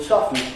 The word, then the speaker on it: soften: And so don't try and put the T back into the word soften or any other word of that sort, except the word often.